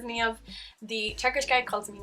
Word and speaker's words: Niamh: My name is Niamh. Niamh. I struggle with that in Ireland, getting people to pronounce it correctly.